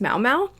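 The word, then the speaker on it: Maomao: I did look up a pronunciation of this character's name, and it would seem it's pronounced Mao Mao. But it does kind of sound a little bit closer to Momo.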